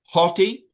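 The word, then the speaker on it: ὅτι: Haughty. Did you catch the rough breather there?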